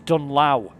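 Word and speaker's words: Dunlow: dunlaw you could say oh no it's not August tunnel it's dunlaw all right because he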